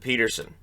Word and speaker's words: Pettersson: Right in the middle here is Elias Pettersson, who a couple years ago pronounced it Peterson.